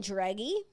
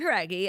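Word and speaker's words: Jauregui: Fifth Harmony singer Lauren Dreggy. Okay. Your inability to say her name. You said it yesterday, too. I think it's trying different things. It's Lauren Heraggi.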